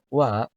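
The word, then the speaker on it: は: Ini huruf hiragana H. Tapi ketika dia menjadi partikel, maka dibacanya wa. Ya teman-teman, dibacanya wa. Tapi ditulisnya tetap huruf H ya teman-teman. Ditulisnya tetap H, tapi dibacanya wa.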